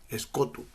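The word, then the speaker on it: σκοτόω: pasaje es del griego escot escot es la palabra el término e se escribe s k o t o o es cotu con su derivado escoti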